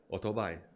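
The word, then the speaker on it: o͘-tó-bái: nowadays is auto buy which comes from a japanese well an english word which doesn't really exist in english in this version but which was invented by the Japanese auto bike pronounced in Taiwanese Auto buy and that's what they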